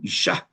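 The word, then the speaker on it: אִשָּׁהּ: So the isha which you pronounce an aspirated h at the end.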